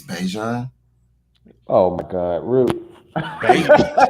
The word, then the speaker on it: Bijan: His mom corrected everybody. It's Bijan.